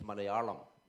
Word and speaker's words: Malayalam: is basically mallayalam and mind you it's not mali okay because most north Indians pronounce the word asali you speak malali it's not mali it's malayalam okay so uh so I